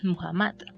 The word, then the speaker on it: Muhammad: venerable profeta mohammad y su nombre en el idioma árabe se pronuncia muhammad muhammad cuando nació y experimentó